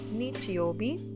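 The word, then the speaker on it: 日曜日: In the word Sunday, the first character is actually pronounced nichi in this instance, so nichiobi, which means Sunday.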